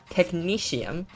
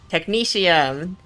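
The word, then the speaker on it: technetium: Technicesium. That makes a lot more sense in my head. Somebody's googling how to pronounce it. Yeah. Um, technicesium. Technicium. Good to know. I wasn't far off.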